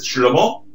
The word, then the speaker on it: Shlomo: Es Shlomo, ¿no? Con acento en la O, ¿verdad? ¿Se pronuncia así? ¿Es Shlomo? Sí, pero si me llaman también está bien.